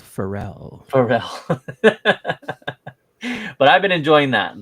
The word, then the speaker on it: Feral: It's French. It's pronounced Pharrell.